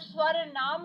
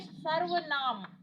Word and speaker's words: सर्वनाम: नाम धातु क्रिया जो क्रिया संज्ञा, सर्वनाम, कई बच्चे सर्वनाम का उच्चारण स्वर नाम करते हैं, वो बिल्कुल गलत है। ये सर्वनाम, इसको हम खोलेंगे तो ये बनेगा रे आधा और वह नाम।